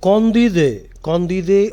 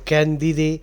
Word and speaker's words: Candide: Condide or Candide. In English, you are likely to pronounce it Candide because the spelling is Candide.